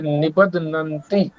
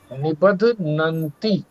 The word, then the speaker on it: निबध्नन्ति: इसमें जो उच्चारण के लिए विशेष ध्यान रखना है, दूसरी पंक्ति में जो पहला शब्द है निबध्नन्ति, निबध्नन्ति, और दूसरा देहीनम अव्ययम, देहीनम अव्ययम, अवयव नहीं है।